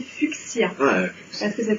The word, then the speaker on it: fuchsia: Oui, même fuchsia. On ne devrait pas prononcer fuchsia, on devrait prononcer fuchsia.